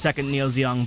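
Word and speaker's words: II Neo Zeong: the way that's pronounced second Neo zong back in that one fight there's a two in front of it a Roman numeral 2 and it's pronounced second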